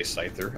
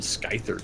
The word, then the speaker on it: Scyther: Like, I don't know how to say Scyther. I called him Skyther till I knew any better.